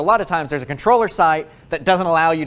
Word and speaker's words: comptroller: now first of all it's spelled comptroller but you pronounce it controller i think it's got